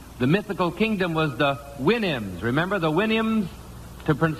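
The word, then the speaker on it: Houyhnhnms: mythical kingdom was the Winnims. Remember the Williams to PR sound to pronounce supposed to pronounce it like you do a horse's winnie I think.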